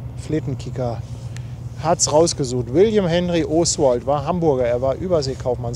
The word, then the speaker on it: O'Swald: Er sagt, ich glaube nicht, dass er so ausgesprochen wurde, wie Paddy es immer sagt. Oswald, sondern Oswald. Oswald. Ja, Oswald.